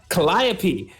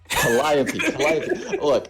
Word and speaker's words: Calliope: How do you pronounce that last name again? Calliope. Calliope.